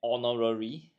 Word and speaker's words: honorary: a non Vel and looking at honorary the pronunciation starts with o allary as such consider this a vowel so we can quickly